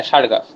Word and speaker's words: Chargaff: আচ্ছা, এটা হলো বানান CHARGAFF। হ্যাঁ, সারগাফ।